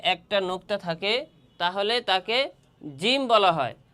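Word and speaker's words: جيم: নোক্তা থাকে তাহলে তাকে জিম বলা হয়। আর জিমের মাকাম তথা স্থান উচ্চারণের জায়গা হচছে জিহ্বার মধ্যখান তার বরাবর উপরের তালুর সঙ্গে লাগাইয়া যে হরফটি উচ্চারণ হয় তাকে জিম বলা হয়।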